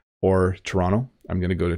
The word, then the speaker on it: Toronto: Britain often say I'm going to go to Toronto Toronto and they make the te but in Ontario we often say Toronto or Toronto I'm going to go to Toronto I said